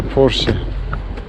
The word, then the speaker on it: Porsche: yok hoş diyorum da bu doğru okunuşu Porsche yanlış söyledim Porsche çünkü Alman arabası Almanca okumak lazım bence ve o da Porsche Bugünlük bu kadar ha